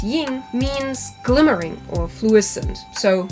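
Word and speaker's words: 荧: even the chinese kanji used for her character pronounced yin means glimmering or fluorescent so yeah illuminating isn't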